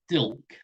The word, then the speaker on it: Dilke: my second name is dilk look you don't you just pronounce it as though there was no e on the end so just it's okay